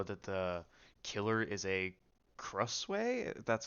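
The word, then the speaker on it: Krasue: I just know that the killer is a Crusway. That's how you pronounce it.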